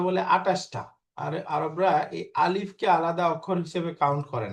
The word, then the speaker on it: ألف: আলিফ। আলিফ। এরকম টান হবে না, আলিফ বলেন ألف তো।